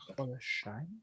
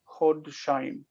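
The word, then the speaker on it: חודשיים: If you want to say um two months hodeshayim Okay, you've got the ayim For whatever reason, with the dual ending, it likes to close the syllable before it. hodeshayim hodeshayim hodeshayim Mhm.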